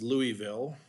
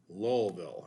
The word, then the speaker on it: Louisville: you have indiana and louisville and it's not pronounced louisville and it's not pronounced lewisville if you talk to most of the locals they will tell you lowellville and i know that because i lived in